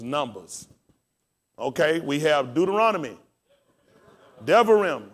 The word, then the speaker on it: Devarim: Devarim. How do we spell it?